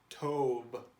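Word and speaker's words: טוב: So we have t and v. And then we plug in this vowel, which makes it O, and we put it all together, tov.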